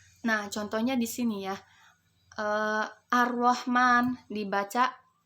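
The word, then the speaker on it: الرحمن: Ar-Rahman dibaca di sini kan tulisannya alif lam ro. Kalau di bahasa Indonesia itu tulisannya Al-Rahman ya. Tetapi di sini dibaca alif lam diikuti huruf ro, maka dibaca dengan Ar-Rahman.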